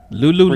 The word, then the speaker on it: Lululemon: You're like and it's like I'm like no, this is Lululemon. ridiculous. Yeah, and it's not even Lululemon. spelled like Lou.